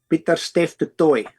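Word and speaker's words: Pieter-Steph du Toit: You can pronounce his last name. Peter Stef the Toy.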